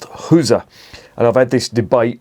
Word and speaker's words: Gueuze: you're French it's pronounced Gaza or you if you're sorry if you're French speaking it's pronounced girls if you're Flemish or living in the Flemish prevent it's pronounced huza and I've had this